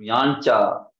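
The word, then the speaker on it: याञ्चा: लेकिन वो कैसा है, देखिए यहाँ च है, चकार पहले और ञकार है उसमें, तो यांचा, यांचा, इस प्रकार से वो जो है उसका उच्चारण है।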